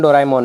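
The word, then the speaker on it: ドラえもん: इसके क्रिएटर का नाम फुजिको फुजियो है और डोरेमोन एनिमे की शुरुआत 1969 में हुई थी और इसके ओनर्स फुजिको फुजियो, शोगाकुकन एंड हितोत्सुबाशी ग्रुप है। डोरेमोन का जापानीज प्रोनाउंसिएशन डोराएमोन है।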